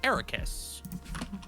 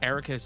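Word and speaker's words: Eraqus: is a character named Ericus. Um and they basically uh it the way that it's spelled is E R A Q U S and almost square backwards.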